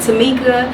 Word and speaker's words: Temeka: uh you can find me on Facebook at Tamika S and my name is spelled a little different it's t-e-m-e-k-a and then